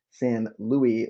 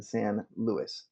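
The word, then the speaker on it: San Luis: it Rob corrected me because I mispronounced San or miswrote san Louie when it should have been San Louis thank you rob for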